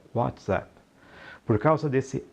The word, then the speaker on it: WhatsApp: é isso mesmo a pronúncia correta do aplicativo é what zap por causa desse é